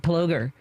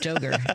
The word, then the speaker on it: Ploger: I had to tell myself not jogger, joger. Joger's not a thing, but it's because the double G would be plogger, I think.